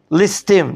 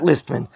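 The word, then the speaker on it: ליסטים: Listim, not listman.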